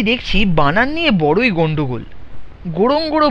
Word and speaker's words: Ngorongoro: গোড়ং গোড়ো বলছে উচ্চারণের সময়, কিন্তু বানান লিখছে NGORONGORO গোড়ং গোড়ো। সোয়াহিলি ভাষার উচ্চারণে প্রথম অক্ষর যেখানে সেখানে লোপাট হয়ে যাচ্ছে, যেন তারা বেওয়ারিশ।